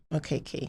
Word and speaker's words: Okeke: Yeah, Okeke.